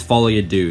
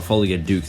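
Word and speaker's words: Folie à Deux: is oh boy Joker fol your do and it is fol do not Folia duk as I used to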